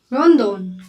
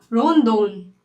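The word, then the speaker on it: ロンドン: आर रोदोन। क्या? रोदोन। पर एक और चीज है जैपनीज में। जैपनीज में ए का प्रोनाउंसिएशन अ नहीं होता।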